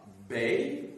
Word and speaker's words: Bey: Vous aviez à Tunis un Bey, B-E-Y, et vous aviez à Alger un Dey, D-E-Y, un D, un B, un D, pour être audible que j'ai les prononcer en distinguant donc les voyelles.